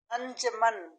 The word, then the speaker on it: अंजुमन: उसूल, उसूल, अंजमन, अंजुमन, जिम के ऊपर पेश है अंजुमन, इन्फाक, बाकिर, बचकाना, बचकाना,